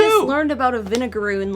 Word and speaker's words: vinegaroon: So it's spelled vinegar, but then O-O-N. Yeah. Vinegaroon.